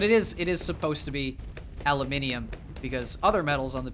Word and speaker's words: aluminium: So it's not aluminum, it's aluminium. We just screwed up the pronunciation when we took it to the States.